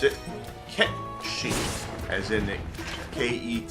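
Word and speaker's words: Cait Sith: the time and uh I had initially been pronouncing it the uh English way of saying that Kate Sith uh obviously Kate and I always thought it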